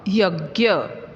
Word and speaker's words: यज्ञ: यज्ञ, यहाँ पर ज्ञ जो अक्षर है जिसे हम लोग मराठी में ज्ञ कहते हैं, हिंदी में इसका उच्चारण ज्ञ ऐसे किया जाता है।